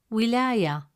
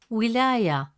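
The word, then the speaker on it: وِلاية: With a kasra, it sounds like wi. Example, wilaya, wilaya, meaning state. The letter waw can still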